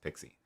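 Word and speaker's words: PKCE: i'm pretty sure was created so that it could be pronounced pixie um but anyway the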